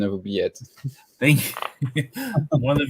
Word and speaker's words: oubliette: We'll just let the judges do the StreamYard link, and then just Steven, good job on the pronunciation of oubliette.